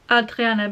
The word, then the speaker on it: Hadriana: And in the end I settled for Adriana because it mentions she's French, and from what little French I remember, French don't pronounce the H's, so basically, I'm just